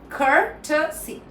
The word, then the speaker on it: courtesy: So courtesy. But court stress. Courtesy. This is the American way to say it. Courtesy. Now, the British way, courtesy. Courtesy. Courtesy. Both are correct.